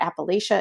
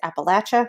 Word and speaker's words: Appalachia: learned very quickly that it's not appalachia it's appalachia so that's why i pronounce it that way and then once